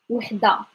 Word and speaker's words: وحدة: Okay, واحد وحدة, واحد وحدة. Get the pronunciation first and write it first, and then I'll in a sentence. واحد وحدة, واحد وحدة. Okay, it's the h sound.